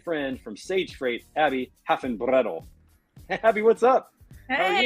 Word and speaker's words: Hafenbredl: I say my grandma always said like hop, like long O, Hafenbredl. Like more of a German Hafenbredl.